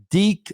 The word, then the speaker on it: Deke: Deke, like Deacon, dude.